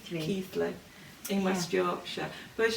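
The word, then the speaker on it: Keighley: say it properly today because the g and the h you'd think it was keeley but it's not it's keith keith keithley in west yorkshire i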